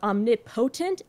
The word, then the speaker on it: omnipotent: passionate I'm not petulent it's because of how the words break down the emphases are omnipotent and petulent since the emphases don't rhyme the words don't rhyme even if their last syllables technically do the next line ends